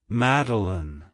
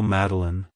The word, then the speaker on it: Madilyn: personality it's pronounced as meline meline meline to pronounce it correctly emphasize the first syllable mad and then pronounce the rest of the name as Alin like Hello meline Goodbye meline if you found the